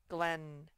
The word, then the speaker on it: Glenn: But this word Glenn with 2 N's, remember it only says one sound. Glenn.